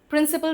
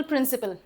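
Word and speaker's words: principle: प्रिंसिपल प्रिंसिपल, इनको क्या बोलते हैं? प्रिंसिपल प्रिंसिपल। दोनों प्रिंसिपल ही प्रोनाउंस किए जाते, इसको प्रिंसिपल नहीं बोलते, इसको प्रिंसिपले नहीं बोलते, प्रिंसिपल प्रिंसिपल।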